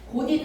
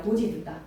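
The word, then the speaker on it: 곧이듣다: 고디 듣다가 아니라 고지 듣다.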